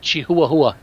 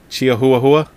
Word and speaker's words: Chihuahua: It's pronounced Chihuahua. Chihuahua. Yeah. Yeah, that's how it's pronounced.